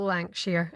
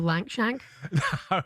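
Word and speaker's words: Lankshear: on him there and you're lucky he pronounced his name correctly because for the first half hour this morning in the office he called him Will Lang Shank the boy you know the fellow Lank Shank.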